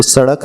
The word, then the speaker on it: सड़क: तो सड़क में जीभ नीचे दांतों में टच होगी, सड़क।